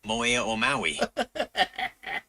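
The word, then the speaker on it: Haʻamonga ʻa Maui: Monga Maui. Moe Maui. It's pronounced Moe Maui. Gotcha, buddy. I got something you couldn't pronounce. Anyhow, it's in the Tongan language, and Hamonga Maui, when you translate it, means the burden of Maui.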